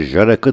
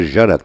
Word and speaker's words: Jarak: yabancı Diplomat yer alıyordu ancak MR jarak j'si y diye okunuyordu bizim diplomatların Adamın adını doğru söylemeleri söz konusu değil üst düzey bir Diplomat olan MR jarak da protokol lisesinden çıkarmak